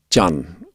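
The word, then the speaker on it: Chan: to china it was it's termed jan which is spelt c-h-a-n john buddhism is the buddhism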